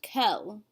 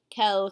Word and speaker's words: quel: the end of that all four forms are pronounced Kel so if I was going to read down this slide I would read Cal Cal Cal Cal we don't hear or say a difference but we see it when we're reading and